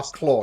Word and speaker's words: Claw: just just pronounced claw oh claw you're right yeah like tooth and claw so uh okay okay